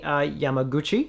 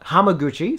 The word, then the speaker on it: Hamaguchi: between the director kiyoshi kurosawa and filmmaker ryusuke yamaguchi hamaguchi sorry about that interview with actors masado hagiwara